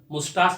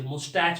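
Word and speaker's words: moustache: लेकिन इसका जो प्रोनाउंसिएशन देख के लिखा हुआ जो वर्ड है वो MOUSTA से, मुस्टैच भी बोलते हैं लोग इसको हमारे देश में।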